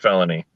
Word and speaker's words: Filoni: are screwing with us it's pronounced felony okay melanie um the